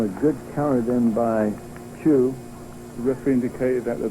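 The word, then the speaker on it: Hsu: H-S-U, pronounced Chu.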